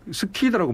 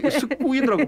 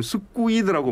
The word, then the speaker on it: squid: 이게 스퀴드라고 발음하시면 안 됩니다. 이거 스쿠이드라고 발음하세요. SQUID이기 때문에 네. 정확하게 발음하면 스쿠이드라고 발음을 네.